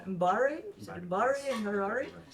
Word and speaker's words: Mbari: He's developed, and again, correct me on my pronunciation if I'm wrong, Mbari? Is it Mbari in Harare? Okay, he's founded the Mbari Art Space to teach his own community how